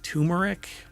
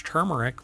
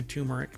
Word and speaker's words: turmeric: lot of people pronounce turmeric but it's not and I've had people when I say it's turmeric with an r and they're like there's